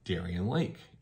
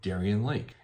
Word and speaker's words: Darien: famous amusement park in the town itself called Darien Lake and the commercials radio spots everything say Darien Lake and it is likely taken from the town